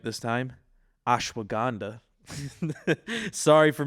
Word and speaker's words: ashwagandha: I'm going to say it right this time ashwagandha sorry for mispronouncing that last week There's turmeric you got